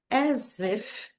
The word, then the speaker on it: as if: even when she sleeps as if, o som aqui de s novamente, junto com uma vogal, né, fica com som de z as if, as if,